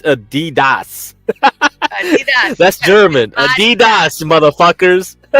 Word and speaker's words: Adidas: that's correct it's like Adidas Adidas is not pronounced Adidas here it's Adidas Adidas that's German Adidas Adidas